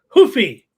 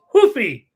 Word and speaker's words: Rufi: corrected me this week the official Brazilian pronunciation there hoofy it looks like hy to me but apparently it's hoofy that's Portuguese I'm speaking Portuguese here